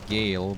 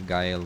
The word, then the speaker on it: Gael: I guess you pronounce it Gale, but I'm gonna say Gael because I like it more.